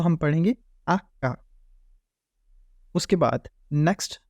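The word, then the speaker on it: acca: इस तरह यह अका एच को हम पढ़ेंगे आका उसके बाद नेक्स्ट जो हमारे पास वर्ड है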